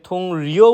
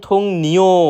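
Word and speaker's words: 동료: এরপর রয়েছে থুং নিও, আমরা প্রায় সময় এটাকে থুং রিও উচ্চারণ করে থাকি, যেটা সম্পূর্ণরূপে ভুল। সঠিক উচ্চারণ থুং নিও মানে সহকর্মী।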